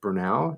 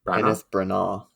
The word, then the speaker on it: Branagh: plot later on um kenneth brunell is that how you say it is it now i think it's kind of branner or kenneth branagh okay um so he